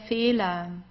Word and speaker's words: Fehler: Der Fehler. Der Fehler. So you see, it's just pronounced like an A.